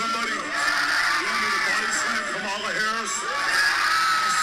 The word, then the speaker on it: Kamala: Now, if y'all can't hear or understand, he said her name is pronounced Kamala.